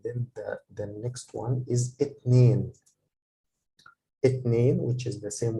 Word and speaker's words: اتنين: I have this kasra under this line under the alif. It makes me pronounce it a.